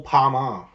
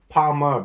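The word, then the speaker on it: Palmer: a year from Chateau Parmar. Did I say it right? Parmar, but I think it's a P-A-L-M-E-R, Parmar, not kind of my last name, but I like how it sort of rhymes.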